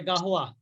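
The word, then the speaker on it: قهوة: আশায়ু ওরা তো ওখানে হারুন, গাওয়া বলে, গাওয়া তো বলে না। ওই তো ওরা গাওয়া বলে, গাহওয়া। ওদের উচ্চারণ এরকমই হয়, ওরা তো ওদের ভাষাগত সমস্যা আছে।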